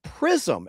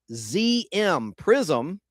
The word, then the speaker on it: Priszm: On March 31st, 2011, Prism, and that's spelled PRISZM, Prism, the largest franchisee for Pizza Hut restaurants in